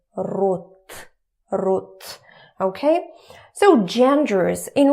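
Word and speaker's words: род: We don't say rod, we say rot.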